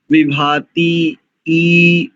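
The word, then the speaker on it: विभातीः: ठीक कर लेना चाहिए अपना उच्चारण विभाती ई विभाती ई ऐसा यानी विसर्ग तो अकार उच्चारण होगा विसर्ग का तो बस अगर स्वतंत्र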